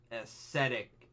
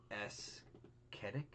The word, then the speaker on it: ascetic: The body was discovered by one of the Aesthetic. Ascetic. Aesthetic. But it's a C. The C is silent. Oh, It's it's an ascetic. SC. Oh.